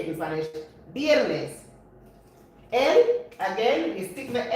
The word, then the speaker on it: viernes: That's how you say it in Spanish, viernes.